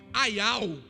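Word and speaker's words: אַיָּל: A palavra servo no original pronuncia-se aial.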